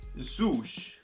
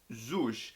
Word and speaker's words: Swoosh: it, was the Nike Swoosh. Swoosh. I've been getting roasted in the comments for saying it wrong apparently, because I say swoosh instead of swoosh.